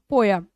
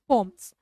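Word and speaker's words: poem: That the reason we always call it पोयम, है ना, बट इसे इसका प्रोनाउंसिएशन इज पोम्स।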